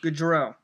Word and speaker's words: Gaudreau: Help me pronounce this name again so I can tell the story. Johnny Gaudreau. Gaudreau.